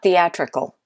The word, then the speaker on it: theatrical: it now how about theatrical the a trickle think about it this one is also the second syllable theatrical can you hear